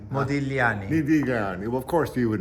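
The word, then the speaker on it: Modigliani: so it's just modani the g is silent modani well of course you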